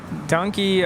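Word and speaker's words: danke: that in in Afrikaans it's d-a-n-k-e pronounced donkey I'm like is it really donkey I thought it was Donkey thank you Carmen I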